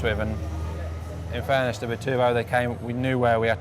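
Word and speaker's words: Bitubo: Bi-turbo. Is that how you pronounce it now?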